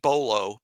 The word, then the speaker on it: Bolo: Steve Bolo, B-O-L-O.